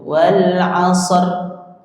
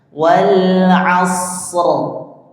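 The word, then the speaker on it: والعصر: Tetapi ditekan atau dikuatkan pada huruf shadnya. Wal asr. Wal asr. Ya. Asr gitu. Setelah yakin dengan pengucapan huruf shad yang mengalir anginnya baru digetarkan sebagaimana huruf ra.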